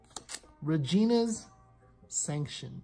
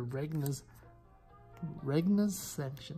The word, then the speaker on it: Regna's Sanction: Regina's Sanction. Sorry, Regna's Sanction, not Regina.